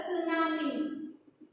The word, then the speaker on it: tsunami: Okay, and its name is the tsunami. Okay, the tsunami. So this this T is silent.